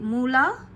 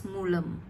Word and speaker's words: Moola: begin with kuu again we start with Moola or in South India we pronounce it as mulam and mola or mulam